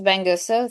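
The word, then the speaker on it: Bengüsu: I think we have probably someone from Turkey, Benguzu, if I correctly pronounced it, or maybe it's not Turkey. Let us know who you are, if I understand, or Benguzu. Hello, yes, this is Bengusu.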